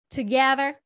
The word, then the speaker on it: together: ๆ นะ คะ Together Together ไม่ ใช่ to นะ อ่าน ว่า เถอะ นะ บาง ที เ มัน